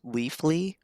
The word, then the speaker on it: Leafly: at least like there's leafly it's spelled like leaf lie uh a lot of